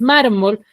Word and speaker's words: mármol: Entonces, mármol tiene la mayor fuerza de voz en la penúltima sílaba.